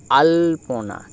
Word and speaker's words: আল্পনা: এটার উচ্চারণ কি হবে আল্পনা কেন না এক্ষেত্রে আ এর সাথে লটি উচ্চারিত হবে কারণ বারবার বলছি যে